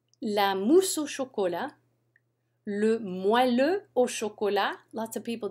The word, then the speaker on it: moelleux: Le moelleux au chocolat. Lots of people don't know how to pronounce that word.